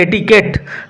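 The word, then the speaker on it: etiquette: চারমিং এটিকেট চারমিং এটিকেট উচ্চারণ লক্ষ্য করো নট এডিকোয়েট উচ্চারণ হবে এটিকেট চারমিং আকর্ষণীয় ডিলাইটফুল এটিকেট শিষ্টাচার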